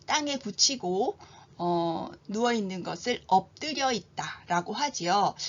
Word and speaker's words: 엎드려 있다: 붙이고 누워 있는 것을 엎드려 있다라고 하지요 이때 피읖은 비읍으로 끝 소리 규칙에 따라서 바뀌게 되고요 드는 된소리 되기로 발음이 됩니다 이따 역시 된소리 되기 발음이 되지요 자 다시 한번 제가 읽어